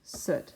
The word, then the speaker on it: soot: solid of soot so this is pronounced soot like your foot sit and the blacks